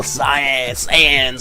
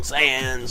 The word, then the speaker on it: Saiyans: Of course, I'm talking about Vegeta, the prince of all Saiyans. I said it wrong. Saiyans, yeah.